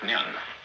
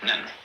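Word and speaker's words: 念: It's pronounced nyan, in Japanese, nen.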